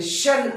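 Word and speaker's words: -tion: Pronounce the word ending TION. TION. TION. With SH sound. With SH sound. जर word मध्ये शेवटला TION आलं तर त्याचा उच्चार SH म्हणजे शन असा करावा.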